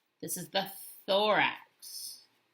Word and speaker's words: thorax: can you tell me it rhymes with the word lorax that's how i remember it so just like dr seuss and the lorax right this is the thorax thorax and then what's the